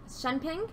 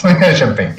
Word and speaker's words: Shunping: My name is Alexi Catlett, and I'm here to do a deck profile with Shunping. That's how you say it, right? Yep. Shunping? Yes. Shunping, yeah.